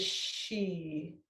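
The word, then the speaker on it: Xi: The sound is she, and let me get my cheat sheet back again.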